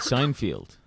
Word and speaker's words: Seinfeld: where he is and he said the name is Seinfeld not field all right John we could he's breaking up he said sign field he said Feld just